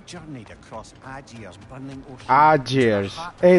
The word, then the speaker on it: Aegir: Aegir's. Hey, that AE is pronounced Ah.